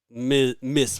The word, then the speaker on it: Ms.: But that's not how Miss Marvel is. Definitely no one pronounces that as Ms.